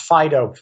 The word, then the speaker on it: Phaedo: connection is called the Phaedo sometimes pronounced Fido pH AE do it's